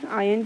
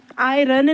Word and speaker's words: iron: उसके बाद कैथोड की बात करूं, उस पर क्या होगी, रिडक्शन होगी किसकी, आयन की। आयरन नहीं होता, इट्स आयन, IRON, are silent होता है तो आयन होता है, आयन।